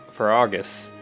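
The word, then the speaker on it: Faerghus: The Holy Kingdom of Farragus is how you pronounce that.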